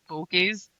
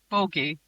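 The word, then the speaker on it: Bogge: The pronunciation is the same as bogies. Bogey. A bogey. I'm sorry. But something that wants to look at you that hard is not a bogey. It's a Boget.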